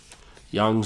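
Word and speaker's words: Jung: looks inside awakes uh Carl Young Young spelled with the j j u n g um so basically that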